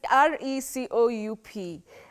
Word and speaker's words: recoup: so do we say so it's r e c o u P um is it to recoup to re I mean that's the only pronunciation I would say is it the is it the one bety recoup recoup the way you said it now the problem is there